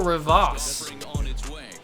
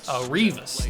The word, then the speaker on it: Rivas: Leonardo Rivas. I think that's how you pronounce his name. Rivas, not Rivas. Rivas.